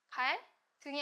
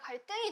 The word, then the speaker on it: 갈등: 갈등이 아니라 갈등이 되죠. 응. 왜? 얘 둘 다 한자 한자어로 이루어진 한자어예요. 근데 앞에 받침 리을이 있고 뒤에 디귿이 왔네. 그러면 된 소리가 된다.